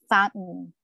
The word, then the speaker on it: fountain: If letter T is followed by a letter N, it has to be pronounced with a stop. Parang nag-suppressed yung sound at the end. Fountain.